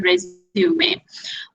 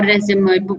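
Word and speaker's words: résumé: will be writing is your resume or resume, both the way you can pronounce, or CV, ठीक है.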